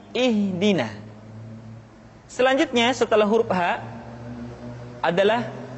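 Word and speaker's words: اهدنا: Perhatikan, huruf ha seringkali diucapkan dari dada. Ha. Ingat, di dalam makharijul huruf kita tidak mengenal pengucapan huruf-huruf dada. Tidak ha, tetapi ha. Tidak ihdina, akan tetapi ihdina.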